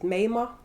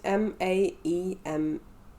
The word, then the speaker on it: Maema: Is it Mayama? It's Maema.